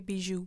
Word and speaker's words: bijou: And the Jade Bichon, is how he pronounce it? J. Bijou.